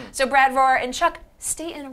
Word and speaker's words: Staten: So Brad Rohr and Chuck, Staten rhymes with Satan.